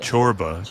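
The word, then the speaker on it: Csorba: Chorba. Gotcha. I'm on it now. But it's it's spelled like Sorba. It's like.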